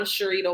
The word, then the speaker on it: Cherita: So I'm Cherita. If anyone sees my name and you're questioning how to pronounce it, literally Cher Margarita put together.